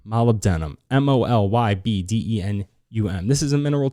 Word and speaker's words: molybdenum: go through these fast i'm gonna try this is spelled funny it's called molybdenum molybdenum m-o-l-y-b-d-e-n-u-m this is a mineral too we all